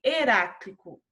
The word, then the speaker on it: Heráclito: o nome aqui falando né como que se pronuncia então é anaximandro e anaximenes e heráclito heráclito e nós temos aí quatro filósofos gregos